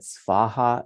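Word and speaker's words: svāhā: of you who wondered why I had svaha in Brackets and also Soha it's because it's pronounced Soha often but the Sanskrit is um so you can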